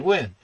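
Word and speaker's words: Nguyen: You know, as a Filipino last name, is because of Scotty Wynn. And people are like, Sal, you might have difficulty pronouncing this guy's name.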